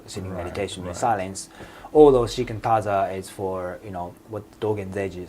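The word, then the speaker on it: 只管打坐: So what is shikantaza means for? So shikantaza is originally pronounced shikantaza in Japanese, means like just sit.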